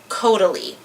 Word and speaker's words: Caudalie: Anyways, the next one is Caudalie.